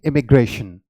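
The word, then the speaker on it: immigration: तो इसमें आई जो है, आप हमेशा आपने इंक में जैसे आप यूज करते हैं आई की प्रोनाउंसिएशन, उसी तरीके से आप यहां पे करेंगे, और इसकी प्रोनाउंसिएशन क्या हो जाएगी? इमिग्रेशन, okay.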